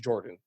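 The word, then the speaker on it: Yordan: Jordan came out and said his name is pronounced - Jordan so it's Jordan Alvarez Verlander Greinke Springer Villar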